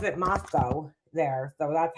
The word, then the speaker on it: Moscow: I wouldn't say Spokane just like with this Moscow thing right I even heard Duty Ron last night he's like Moscow Moscow because we're used to saying Moscow you know but apparently they